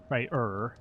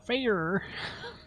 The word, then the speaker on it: Freyr: So we're going to pronounce it Freya for the, you know, for Freya. And Freya. Freyr. It's hard without that American R. Freyr.